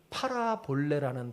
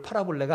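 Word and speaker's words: παραβολή: 뭘까요 비유로 말씀하셨다는게 뭘까요 비유는 헬라어로 팔아 볼레라는 단어인데요 뭘 팔아볼래가 아니라 발음이 그래요 팔아 볼래 따라해 보세요 팔아볼래 예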